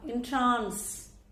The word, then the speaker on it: entrance: வேர்பா வரும்போது அதோடைய உச்சரிப்பு என்னன்னா entrance.